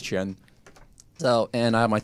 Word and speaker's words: Quan: So you can say Qian, even though it's Q-U-A-N, everyone says Quan, but in Chinese we actually pronounce it as Qian.